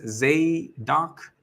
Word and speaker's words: Zadok: this is my character his name is zadok pronounced Z do and uh he's a